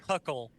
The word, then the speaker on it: Huckle: talking about Chad hu is it pronounced hu huckle Chad huckle yep yep um yeah don't make oh man that's like Larry hamah Hama hook huckle I think it's just huckle it's like Huckleberry pretty damn sure pretty